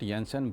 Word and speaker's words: Jensen: it Jensen some and I prefer call it Jensen because I believe it's in it's a Denmark name of the person from Denmark and there they pronounce j s y okay so I think it's proper to say yes and Jensens okay so